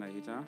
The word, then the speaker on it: Anahita: Vielen Dank nochmal an Anahita. Habe ich das so richtig ausgesprochen? Ja, vielen Dank an Anahita.